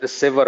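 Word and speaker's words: sever: থাকবে সেভার আমরা আসলে সিভিয়ার বলতাম এটা আসলে সেভার হবে উচ্চারণটা এসভির আরেকটা লাগলে সিভিয়ার হবে এই সেভার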